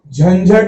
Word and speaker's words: झंझट: झंझट में झ के पहले बिंदी है तो ये बिंदी य का उच्चारण करेगी।